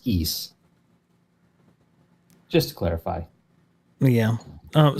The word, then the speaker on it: Ys: title of the game is just the letter Ys which is why we always pronounced it y's but it is in fact pronounced e just to clarify yeah um so you know